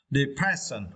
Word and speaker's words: depression: And for this words, you need to stress the second syllable, press. Okay, press. Depression.